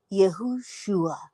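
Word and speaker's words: יהושע: The Hebrew form of the word Joshua is Yad Havav, or Yod Havav Shin Hey, pronounced Yehoshua, and it means Jehovah saves.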